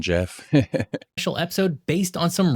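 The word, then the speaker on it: Geoff: an extra special Jeff I said g off well it's spelled j g e yeah GE o FF so sorry for the confusion Jeff special episode based on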